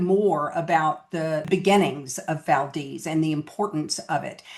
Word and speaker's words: Valdez: The locals call it Valdis. It's spelled like Valdez, but they call it Valdis.